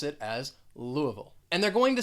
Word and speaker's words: Louisville: largest city in kentucky has three syllables the stress is on that first syllable and with this one you are not going to say louis you're going to say louisville louisville now if you are